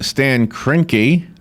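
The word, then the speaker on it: Stan Kroenke: of sports what is truly dirty is when Stan kinky is how you say his name what he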